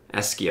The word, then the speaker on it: ASCII: ASCII, I think, is the way they pronounce it.